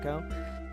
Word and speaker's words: Ico: I know it's pronounced Eco. I call it Ico.